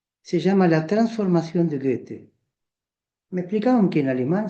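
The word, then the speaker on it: Goethe: El capítulo uno se llama la transformación de gete. Me explicaban que en alemán se pronuncia Gute.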